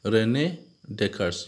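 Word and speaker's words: René Descartes: Okay, Rene Descartes. It has to be pronounced in that way.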